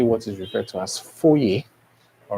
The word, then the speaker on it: foyer: I know from the spelling you have f O Y E R. Okay. But this is pronounced as foyer.